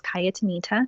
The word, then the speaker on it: Cayatanita: and locate me on youtube my name is kaya Tomita so I do have my first name it's spelled CA y ata and I ta and you can find me on Instagram as well and yet Anita on Instagram on snapchat on Facebook and I